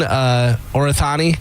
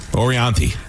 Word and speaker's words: Orianthi: By the way, is he still dating Orathani?